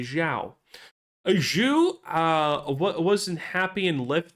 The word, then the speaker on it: Zhao: That's how you pronounce Zhou. You say Zhao.